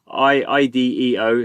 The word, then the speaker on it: IDEO: So we have IDEO, that's how you say it, Ventures.